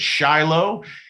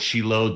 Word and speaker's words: Shiloh: In the West, many people pronounce it Shiloh. In Israel, they call it Shiloh.